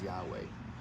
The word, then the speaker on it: Yahweh: so that's actually a mispronunciation the correct original pronunciation as close as we can humanly get is Yahweh and the cool thing about the name Yahweh